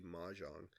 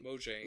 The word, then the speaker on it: Mojang: this, if it's specifically Mahjong. Or, I mean... Mojang, well, you said it wrong, Nick.